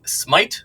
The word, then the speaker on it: Smythe: with Nelly podcast today I'm joined with Smite I say that right yes she is a